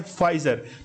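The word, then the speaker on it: Pfizer: तो यूएसए जो है ये इसका करेक्ट आंसर है और वहां पर फाइजर, देखिए पी साइलेंट है और इसमें यूज किया जाता है फाइजर।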